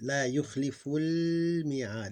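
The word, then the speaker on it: لَا يُخْلِفُ الْمِيعَادَ: You basically, because it's not in the beginning of the word like this one, so we don't pronounce it. La yukhliful mi'ad.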